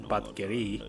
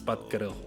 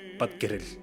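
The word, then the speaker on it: Batgerel: It's not Batgeri, it's Batgero. Well, if you're Buret Mongolian, you would say Batgero. If you are Khalkha Mongolian, which Batgero is, you would pronounce it as Batgeril.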